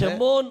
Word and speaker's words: शमौन: ஷமோன் அப்படிங்கிற அந்த வார்த்தை தான் சரியான உச்சரிப்பு. शमौन ये शब्द जो है सही बोल है।